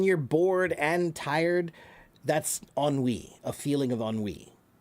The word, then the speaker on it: ennui: Can anyone phonetically guess what it should sound like? The word is ennui.